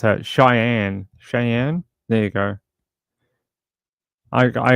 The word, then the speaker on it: Cheyenne: you for tell me tell me how to pronounce that Cheyenne Cheyenne there you go I I agree thank you